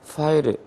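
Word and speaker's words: ファイル: 우리는 파일이라고 안 하고 파일이라고 하지만 일본은 F 발음은 전부 다 후 발음으로 하니까 파일.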